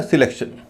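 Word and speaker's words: selection: है, लेकिन शुरू में जो ए है उसका उच्चारण हल्का हो रहा है इसी तरह सिलेक्शन।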